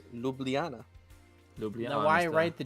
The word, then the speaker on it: Ljubljana: uh js don't actually js don't actually make sounds in the slovenian language it's uh i guess if i were to if i were to ignore consonants i can't pronounce that as lublana it's it's ljubljana now why write the